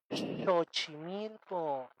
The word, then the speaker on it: Xochimilco: Por eso palabras como xalpa o todas las palabras que tengan X en náhuatl van a sonar así. Xalpa, Xochimilco, Xictli, Xochitepe, ¿vale?